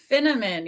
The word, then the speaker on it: Finneman: I am Finneman, rhymes with cinnamon, but I'm not a spice girl.